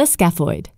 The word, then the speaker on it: scaphoid: of bones with names that are hard to pronounce. Like this one, the scaphoid.